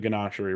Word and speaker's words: Ganachery: And Eric, you have not been to the Ganachery, right?